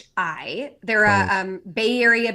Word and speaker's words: Coyuchi: Koyuchi. Yeah. Koyuchi. Yeah. Okay. And how do you spell that? Koyuchi. It's Coyuchi.